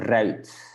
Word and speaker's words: ruit: So there's a trick to pronounce it well. So you make a bit from your lips, yeah, kind of a trumpet. So it's ui, you open it and then close it like a trumpet.